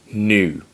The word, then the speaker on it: nu: still making significant progress the next letter is new like that brand of water called new new new the next